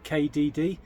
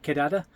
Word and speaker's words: KDD: what they call a we'd say KDD but it actually is pronounced kadada and in Spanish kada means basically a big meetup.